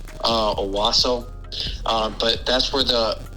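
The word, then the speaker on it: Owosso: did some digging and it's called aaso Miss Michigan o w SS o I think I'm pronouncing that right uh aaso uh but that's where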